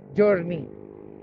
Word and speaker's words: Giorni: Or kung babasahin mo kasi siya, Giorni. Pero yun siguro yung pronunciation, Journey.